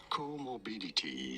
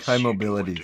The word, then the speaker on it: comorbidities: This is said as comorbidities. Comorbidities. Stress on the first syllable.